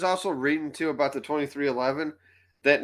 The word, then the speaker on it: 23XI: And 2311, that's how you pronounce it, not 23XI, it's 2311.